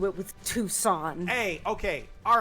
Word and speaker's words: Tucson: My mom listens to me spell it and she goes, "It's pronounced Tucson, you dumbass."